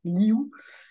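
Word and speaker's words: liv: So this is a V, but it's pronounced ou in Breton, liu.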